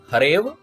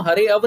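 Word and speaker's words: हरेऽव: अब देख लीजिए, इसी तरह से ए जमा अ, ए जमा अपि ते अपि, हरे जमा अव हरेव, हरेव बोलेंगे हम, हरे अव नहीं बोलेंगे, हरे अव नहीं बोलेंगे।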